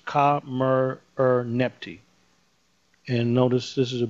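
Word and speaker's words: Khamerernebty: Her name looks difficult, but no, not if you break it into syllables. Ka-mer-er-nepti.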